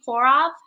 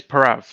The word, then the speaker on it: Prav: me yeah you bet is that how you say your name pour off how do you say your name uh it's prav again i'm i'm gonna